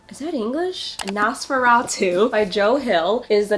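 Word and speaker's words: NOS4A2: Nosferatu. Nosferatu. What Google said. Is that English? Nosferatu by Joe Hill is the next book that I want to read.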